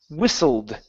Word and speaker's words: whistled: this word is pronounced whistled the t is silent whistled whistled whistled okay